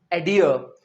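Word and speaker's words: adhere: supply अगला word है ए डी एच ई आर ई इसे हम प्रोनाउंस करेंगे एडियर एडियर का मतलब एक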